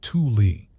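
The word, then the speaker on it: Thule: The fuel ancestors, the fuel culture, pronounced tuli, emerged around 1,000 CE, migrating eastward from Alaska into what is now Arctic Canada and Greenland.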